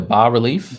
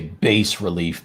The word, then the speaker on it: bas relief: I am interested to try the coin maker thing, the bas relief.